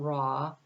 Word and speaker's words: Ra: It's spelled R-A-W, but when I said it, I said raw intention, not raw. I said raw. That's the sun god.